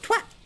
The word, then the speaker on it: twat: Twat is not a swear word. It rhymes with hat, it rhymes with cat, twat.